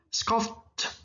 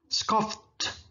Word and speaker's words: scoffed: Scoff, pakai ed bacanya jadi T. Scoffed, scoffed, mencemooh, mengejek.